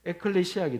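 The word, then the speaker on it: ἐκκλησία: 교회라는 단어를 말할 때마다 원어적인 말 원어의 발음으로는 에클레시아 때문에 에클레시아로 제가 이야기를 하고자 합니다 그래서 제가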